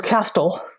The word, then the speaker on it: castle: This never happens with all the other words with a silent T. This rule only applies to the word often. Nobody ever says castle or listen, and you shouldn't, because if you do, it will be a mistake.